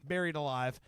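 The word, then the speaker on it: Berried Alive: This is a band called Buried Alive, but it's spelled BERRIED, Buried Alive.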